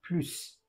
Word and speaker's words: plus: Here we do pronounce the S, unlike here or here, because here it means any more, and here it means more.